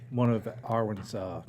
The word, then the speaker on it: Awyn: It's Awyn, okay? So there's Awyn. It's not Awyn, right? Am I getting it right the whole time or not? Have I Yeah, been no, saying you've it? been saying it right. Okay. Awyn Dawn. So you guys don't put an R in there.